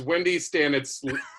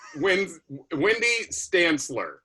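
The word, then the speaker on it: Wendy Stanzler: It is Wendy Stanitz. Wendy Stantzler. Okay, Wendy Stantzler. That's how you pronounce it.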